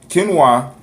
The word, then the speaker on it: quinoa: I say it's quinoa. It look like quinoa, but it's quinoa. Very nutritious. Quinoa is a grain crop that is grown for edible seeds.